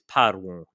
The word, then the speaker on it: parvum: So basically, just like Germanic, the word in question is cerebrum, and the neutral form of parvus is parvum. The M is never pronounced.